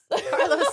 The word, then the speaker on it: Carlos: Carlos is fine. Roll the R.